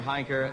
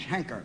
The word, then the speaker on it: Heinker: Heinker... I know his face. Yes. Well, Mr. Heinker, so you can get on to your book. Yes. By the way, I believe my name is Henker. H-E-N-K-E-R, Henker.